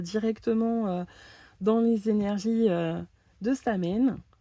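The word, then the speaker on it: Samhain: dans les énergies de Samain je sais on dit samine apparemment mais euh je bloque avec cette prononciation donc je vais continuer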